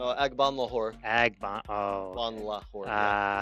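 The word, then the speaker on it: Agbonlahor: Gabriel Bung Lahore. Isn't that his name? What's that last name again? Stop it. That was a lacrosse announcer's, Did I not pronounce it right? No, Agban Lahore.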